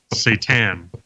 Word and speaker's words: SATAn: Joe, how do you pronounce this? That's a weird one. Satan.